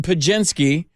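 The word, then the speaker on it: Podziemski: so the Warriors take Santa Clara's own Brandon pagenski but it's spelled p-o-d-z-i-e-m-s-k-i or ichart Brandon eye chart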